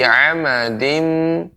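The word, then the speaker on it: عمد: Ada beberapa catatan untuk adik, nanti dilatih ya, diperbaiki, terutama misalnya pengucapan ain ya, jadi jangan sampai menjadi huruf alif ya. Fi amadim ain ya.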